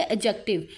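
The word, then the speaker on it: adjective: अब आगे होता है एडजेक्टिव अच्छा यहां पर स्टूडेंट काफी बार इसे गलत प्रोनाउंस करते हैं ए और जे के दरमियान जब डी आ जाए तो वो साइलेंट होता है तो इसे कहेंगे एडजेक्टिव ठीक है एडजेक्टिव क्या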